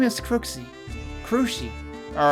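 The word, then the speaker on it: Cruxie: My name is Krooksie. Cruy. All right. At least she freaking tells me how to pronounce it because yeah, I always freaking screw it up the first time.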